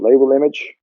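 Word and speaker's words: LabelImg: data using label and you pronounce that label image and then links to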